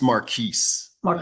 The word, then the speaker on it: Maris: I think I saw Marque hand up as well. And I Please forgive me if I mispronounced your name. No, that's fine. Uh, it's Maris. had everything else but the S.